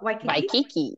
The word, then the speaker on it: Waikiki: Okay, Waikiki.